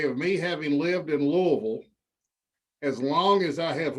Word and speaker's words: Louisville: the anniversary day of me having lived in louisville as long as i have lived anywhere else